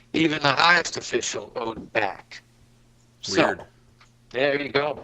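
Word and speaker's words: bak: The Egyptians called this back, which is spelled B-A-K.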